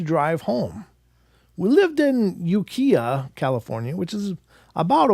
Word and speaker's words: Ukiah: We lived in Ukiah, California, which is about a 1-hour drive. Ukiah.